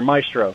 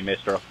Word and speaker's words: maestro: of mine or rather Maestro he actually gets a little upset whenever I say mestro well I mean it's just a matter of you saying it wrong yes I know that's